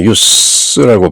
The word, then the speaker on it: use: 이때는 명사이기 때문에 use라고 발음하죠. use 하면 동사로 쓰는 것이고 Of what use is anxiety about the future?